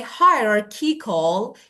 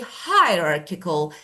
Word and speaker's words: hierarchical: You say hierarchical. You move the stress to the second part. You should say hierarchical. So that is the stress is the first first syllable stress hierarchical or egalitarian.